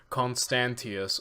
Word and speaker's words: Constantius: I wanted to really know this man's name and pronounce it correctly. Constantius.